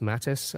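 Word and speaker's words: Mathijs: like um Mattis newick it's spelled m a t h i JS yeah I think it's just pronounced Mattis um but he's come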